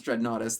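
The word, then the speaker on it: Dreadnoughtus: dread naus yes I do know how to pronounce dread naus this is a good topic so I found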